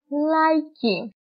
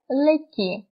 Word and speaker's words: λαϊκή: Και επίσης έχουμε τα διαλυτικά, που επίσης αυτά χωρίζουν τα δύο γράμματα. Όπως λέμε, δεν τα προφέρεται ξεχωριστά. Όπως λέμε, χαϊδεύω. Χαϊδεύω. Μετά, τρόλεϊ και λαϊκή. Αν δεν ήταν τα διαλυτικά, θα το διαβάζαμε ως σχεδεύω, τρόλι και λεκή.